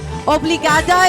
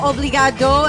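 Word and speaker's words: obrigada: in you say oblig obligada obligada if you're a girl obligado if you're a guy right do you want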